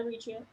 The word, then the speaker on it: Eritrea: Yeah, Eritrea.